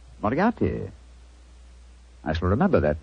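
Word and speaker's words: Moriarty: I'm afraid I'll have to begin calling it the way it looks. M O R I A R T Y. Mariati. Moriati.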